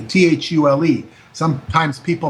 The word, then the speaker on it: Thule: the Brill society and the Thule society THU le some times people mispronounce it fool but it was known